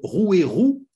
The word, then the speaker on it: Rouairoux: 23 mars à Labastide Rouairoux ceux il y a bien un X il faut prononcer le X moi le Ch'ti je